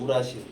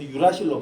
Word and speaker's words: 유라실: 우라실. 이건 독일식 발음인데 우라실이라 그랬었는데 이제 영어로 넘어오면서 유라실로 바뀐 거예요.